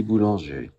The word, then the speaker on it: Boulanger: and the composer because I'll never get the pronunciation right. So here's how he said it. D'un matin de printemps by Lily Boulanger.